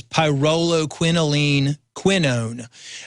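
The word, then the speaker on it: pyrroloquinoline quinone: is the biopqq and the way it's pronounced is pyo quinoline quinone and that there's Chicago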